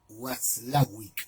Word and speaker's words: Watzlawick: Watzlawick sería, ¿sí? Se pronuncia Watzlawick.